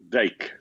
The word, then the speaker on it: Dijk: Could you just give him the right pronunciation? Dijk.